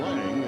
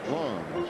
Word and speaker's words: Lang: isn't he calling him Lang his name is long it is spelled l-a-n-g but pronounced long Czechoslovakian boy now Kelly